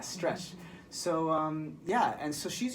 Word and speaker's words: Stretch*d: Yeah, so that's spelled STRETCH asterisk D. Yeah, Stretched.